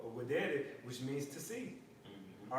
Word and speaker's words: videre: All right, with the V, but it's pronounced videre, which means to see.